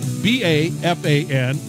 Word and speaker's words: Bafan: Now, his last name is spelled B-A-F-A-N, and it's pronounced Bafan, and he is Mad